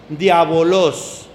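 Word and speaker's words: διάβολος: Diabolos.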